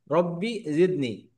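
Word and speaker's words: رب زدني: রব্বি জিদনি, হ্যাঁ, রব্বি জিদনি, জিদনি না, রব্বি জিদনি, জিদনি, জিদনি, জিদনি। যা, যা। জিহ্বার আগা, জিহ্বার আগা সামনের দাঁতের গোড়াকে টাচ করে উচ্চারণ হবে, হ্যাঁ।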